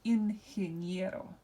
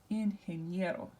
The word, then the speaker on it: ingeniero: And so which syllable is going to be emphasized? Well, it's going to be the next to last syllable. So we'll just go here and make sure we emphasize this. So this is ingeniero.